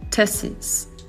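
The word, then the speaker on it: test's: Donc à l'oral, on va le prononcer tesis tesis.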